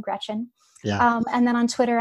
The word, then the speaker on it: Greczyn: It's Polish, but it's really easy to pronounce. It's just like the girl's first name, Greczyn.